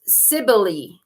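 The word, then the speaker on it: Cybele: see what we have it's pronounced Sibley Sibley also called Magna Mata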